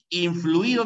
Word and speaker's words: influido: caucaso ya como esdrújula influido no lleva tilde porque es una palabra grave que termina en vocal no sé por qué